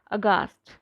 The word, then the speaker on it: aghast: Next word is अगास्ट, या इसको अगेंस्ट भी बोल सकते हैं, ये डिपेंड करता है आप कैसे प्रोनाउंस कर रहे हैं इसको।